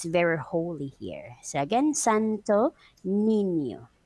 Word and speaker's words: Santo Niño: So again, Santo Niño. Santo Niño. Yeah, so the pronunciation for that is just like as in Santo Niño.